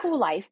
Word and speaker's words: Kuel Life: you started your company is it pronounced cool life it is it's pronounced cool life because my contention is